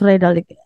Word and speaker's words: Redalyc: the updates from Rik how we how we pronounce Rik am I right to say it Prof Ariana